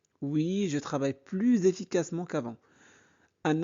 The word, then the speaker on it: plus: Aujourd'hui ici plus tu travailles encore plus aujourd'hui.